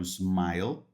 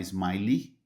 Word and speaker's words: smile: O verbo smile termina com l e, né? Aqui smile e s m i l. A pronúncia do e ele não existe, não é smiley, existe smiley, só que escreve de outro jeito.